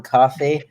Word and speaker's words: Coffey: in comes this mysterious uh inmate named john coffey don't call for them set like the drake